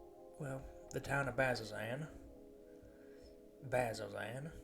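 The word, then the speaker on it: Bazzoxan: Bazazan, it looks funny, but it's how it's said.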